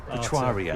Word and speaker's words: Etruria: club first of all tell me how you pronounce it it's patois RIA etruria yes so it's named after the the Roman